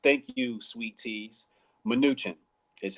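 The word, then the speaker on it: Mnuchin: and it looks like a smidge its nutrient minuchin is how it's pronounced thank you sweet teas minuchin is how it's pronounced thank you that's why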